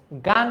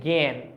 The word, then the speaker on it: জ্ঞান: বাদ দিলাম এটা দেখতো এটা কিন্তু আমরা গান বলছি না এটাকে আমরা গান বলছি এটাকে আমরা বলছি জ্ঞান তারমানে এটার উচ্চারণ অনেকটাই